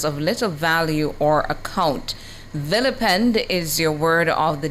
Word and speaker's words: vilipend: And your word of the day is spelled V-I-L-I-P-E-N-D, spelled V-I-L-I-P-E-N-D.